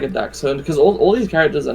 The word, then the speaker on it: dachshund: No, it's pronounced dachshund. I thought it was dachshund, but yeah, it's definitely not dash hound.